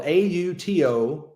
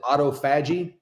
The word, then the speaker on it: autophagy: It's spelled AUTOPHAGY. Some people might pronounce it autophagy or autophagy.